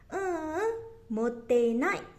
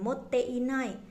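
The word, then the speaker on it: 持ってない: Motenai, motenai, jadi i-nya nggak usah diikutin, bukan moteinai, jadinya motenai gitu ya.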